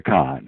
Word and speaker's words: Cahn: He's an economist here in the United States, and no, his name is not spelled C-O-N. It's it's spelled C-A-H-N, but it is a Khan.